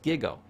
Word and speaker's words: GIGO: teach a computer term it's called gigo It's pronounced gigo g g garbage in garbage out data in